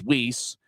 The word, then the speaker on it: Weisz: And Tyler Weisz, w e i s z, but the pronunciation guide for for Indy says Weisz.